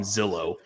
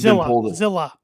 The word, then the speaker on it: Zilla: is that is it I want to call him Zillow because that's it's Z I can't pronounce it yeah it's um yeah yeah he's the other brother and and Jimmy and J yeah yeah yeah um he's Zilla Zilla not Zillow Zillow fought too that's